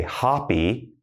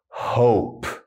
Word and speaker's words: hope: Don't say hoppy, we say hope. It's like, I hope it does not rain tomorrow because I'm going to the baseball game. Things like that, all right? Before it was hop, now hope with the long vowel O sound, all right?